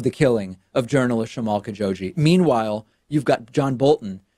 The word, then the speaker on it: Khashoggi: Trump said about the killing of Jamal Khashoggi, notice how I've updated my pronunciation now, Khashoggi.